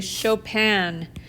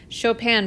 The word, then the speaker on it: Chopin: enjoyed listening to that music that was actually chopin chopin but it's spelled like this it's spelled like chopin like